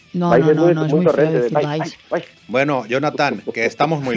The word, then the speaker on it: Valls: A ver, tío, yo digo Valls, es como Arturo Valls. No, mira, no, te lo enseño a decir. Tienes que pronunciarlo con I, Valls, y entonces quedas bien.